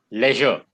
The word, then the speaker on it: leisure: education okay leisure okay actually yeah leisure is also fine you can pronounce it that way all right just a minute the free time from the demands of work is basically leisure leisure leisure both are fine leisure activities we must